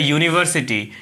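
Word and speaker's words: university: तो देखिए यहाँ लिखा हुआ है अम्ब्रेला, इसमें क्या स्टार्ट हो रहा है, अ से स्टार्ट हो रहा है और यह है यूनिवर्सिटी, यू।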